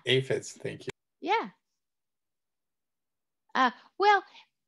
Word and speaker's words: aphids: ants with the um acids did i pronounce that right aphids yeah aphids thank you yeah uh